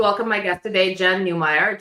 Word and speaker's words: Newmeyer: Thrilled to welcome my guest today, Jen Newire, just like Oscar Meyer, but new and improved.